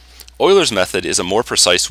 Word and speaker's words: Euler: idea of what a solution would look like euler's method is a more precise way of doing this euler's method is named after a famous mathematician named leonard euler and his name is pronounced euler right now you should pause the